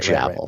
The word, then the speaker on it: Javel: It's pronounced like gavel. Right. Javel.